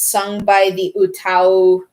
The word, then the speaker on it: UTAU: an utau that's spelled u-t-a-u it's pronounced utau because utau i'm i hope i'm pronouncing that right it's it means sing in japanese and they're kind of